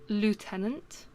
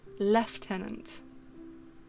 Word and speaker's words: lieutenant: So I believe Americans pronounce it lieutenant. However, to say it correctly in British English, it is actually lieutenant. Where does the F come from?